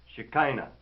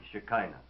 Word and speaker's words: Shekinah: view of the scholars the pronunciation is accepted as shekinah i like to use shakina because it carries more of the motherland vibration of a word from